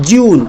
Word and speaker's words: June: Sixth month का नाम है JUNE, जिसका उच्चारण होता है जून।